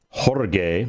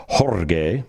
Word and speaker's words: Jorge: then sergeant first class jorge that's technically how you pronounce george's first name i just call him george because it's so hard to say jorge although it's beautiful when you say it that way isn't it all